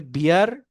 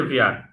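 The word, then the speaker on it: wir: যেটা বললেন কনজুগেশন হয়ে আমরা যদি হয়, তাহলে বিয়ার, আমরা হচ্ছে বিয়ার না? আমরা হচ্ছে ভিয়ার।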